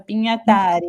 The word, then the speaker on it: Pinhatari: Pinhatari é assim mesmo que pronuncia seu nome, Carlos? É italiano, então sim. Italiano, Pinhatari, então acertei, muito bem.